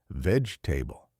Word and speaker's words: vegetable: Vegetable sounds like veg-table.